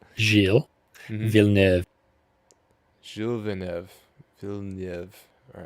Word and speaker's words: Gilles Villeneuve: But he's going through second chicane is Giles Villanueva. If Oh I my God, pronounce no. that correct? Not even close. God, all right. Gilles. All right. Gilles Mhm. Villeneuve. Gilles Villeneuve.